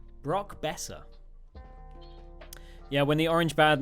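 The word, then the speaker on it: Boeser: b o e s e r that's that's pronounced Bessa Brock Bessa yeah when the orange bad name used to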